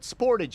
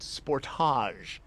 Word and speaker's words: Sportage: And yes, you folks in Canada think I'm pronouncing the name wrong, but we call it Sportage in the US, not Sportage.